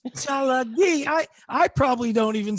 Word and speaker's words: Tsalagi: And yet he'll allow the name of the entire tribe to be Cherokee, which is a mispronunciation of the Cherokee language, Tsalagi. It's not Cherokee, it's Tsalagi.